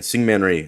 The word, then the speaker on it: Syngman Rhee: South Korean Syngman Rhee, Syngman Singman Rhee.